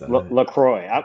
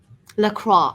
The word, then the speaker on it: LaCroix: LaCroix. I'm going with Yes. LaCroix. Some people pronounce it way more French than I do. Maria, do you have a preferred pronunciation of the sparkling beverage? LaCroix.